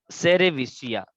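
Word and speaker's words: cerevisiae: Saccharomyces, सेरेविसिया या सेरेविसी, ऐसा भी कुछ प्रोनाउंसिएशन करते हैं, तो ये और कौन से नाम से जानी जाती है?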